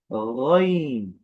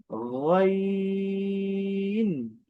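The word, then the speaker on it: غين: উপরে নোক্তা আসার ফলে এই হরফের নাম হয়েছে গইন। গইন। আমি আবারও বলছি, গইন। আচ্ছা, গ, গ, গটা কোথা থেকে উচ্চারণ হয়?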